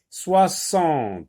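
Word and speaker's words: soixante: 60, 60. On voit la lettre X et on doit écouter S.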